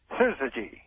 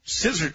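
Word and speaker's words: syzygy: Well, let let me hear you pronounce it. Scissy. Scissor.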